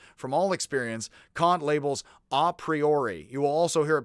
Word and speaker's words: a priori: before and apart from all experience kant labels ah priori you will also hear it pronounced by americans ah a priori a priori or a priori and that which